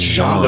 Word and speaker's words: Jean: It's pronounced Jean the French way.